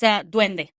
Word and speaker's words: duende: be a completely different entity, but is it duende? So yeah, it's duende.